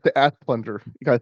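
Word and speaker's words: Asplundh: It's the Asplunder.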